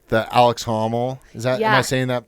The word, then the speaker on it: Alex Honnold: Like the Alex Honnold. Is that, am I pronouncing that right? Yeah, Alex Honnold.